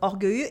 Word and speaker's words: orgueilleux: Here what you can notice is that the X at the end of orgueilleux is silent.